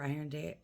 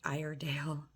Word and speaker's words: Iredale: luck now with Fort Stevens and the Peter iron day Iredale um and um even keep a disappointment which